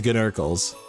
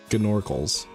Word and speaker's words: Gnorkles: Yeah, the G is pronounced in okay, so it's like Gnasty Gnork. It's Gnorkles. Gnorkles.